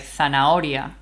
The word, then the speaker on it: zanahoria: Even if it's in the middle of a word, like zanahoria, which we call H intercalada. Mm-hmm. Silent.